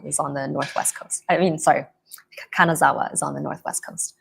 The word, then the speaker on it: Kanazawa: But I can't even pronounce the city where you are staying right now. What is it? Yeah, it's Kanazawa. Kanazawa.